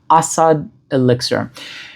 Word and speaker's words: Asad Elixir: I realize that you put the emphasis on the first syllable, so it's trochaic as opposed to iambic. Asad Elixir.